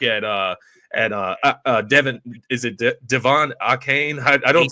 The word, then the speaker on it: Achane: outside, you look at Devin, is it Devon Achane? I don't say his name often. Yeah, A-Chain.